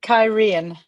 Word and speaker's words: Cairhien: pronounced Cairhien.